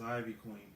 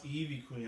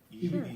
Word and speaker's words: Ivy Queen: But I call her by her Spanish name. It's just Evie. Evie Queen. Queen. Evie Queen.